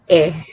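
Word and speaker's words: へ: I'll repeat, konnichiwa is pronounced as konnichiwa, and konbanwa is pronounced as konbanna, and he is pronounced as e.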